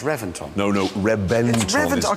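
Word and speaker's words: Reventón: time no I know it's spelt with a V but it's pronounced with a B why I don't know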